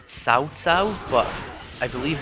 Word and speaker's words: Cao Cao: Let's see, here's Cao Cao. Actually it's pronounced Cao Cao, but I believe right up till Dynasty Warriors 7 they called him Cao Cao, so I'm just going to keep calling him